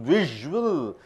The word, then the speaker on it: visual: S is pronounced as z, visual communication.